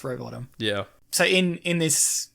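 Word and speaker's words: Rowbotham: oh okay yeah yeah but it's pronounced Robottom yeah so in in this book which is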